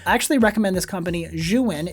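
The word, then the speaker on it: Zhiyun: of the room I actually recommend this company xuan it's spelled zh I Yu n they make a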